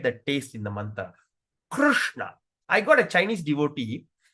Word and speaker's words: Krishna: So, when you say R, you don't put your tongue in front. Put your tongue at the rushna.